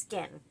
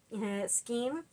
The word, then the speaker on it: skein: It's been a while, but yeah, it's pronounced skin and spelled skein. But if you prefer to call it skein of yarn, I mean, all the power to you. You're not hurting anybody by pronouncing it wrong.